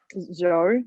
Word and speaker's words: Zhou: And we got confirmation that is it Zhao? Is that how you say it? Zhu? Is that how you say his name? Zhou, yep.